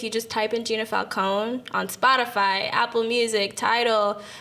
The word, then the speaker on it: Falcone: so my social media is at underscore Falcone that's underscore FAL cont and it's pronounced Falco not Falcon not Falcone yeah I'm